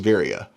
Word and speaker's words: Veria: But the company's called Veria, I believe, Veria. But nobody says that, because the few times I've heard people try to say it, nobody has said it the same. In fact, I know I mispronounced it in the first video because I didn't really know how to pronounce it. I believe it is Veria, but I'm the one